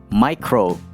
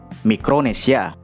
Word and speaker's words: Mikronesia: Dalam bahasa Inggris i-nya dibaca I dan menggunakan huruf C micro. Tapi dalam bahasa Indonesia huruf I-nya dibaca I dan menggunakan huruf K mikro mikronesia.